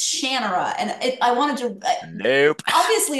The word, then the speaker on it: Shannara: who introduced me to the series was always Shannara. So we always said it, and then I start listening to the audiobooks, and it's Shannara, and nope.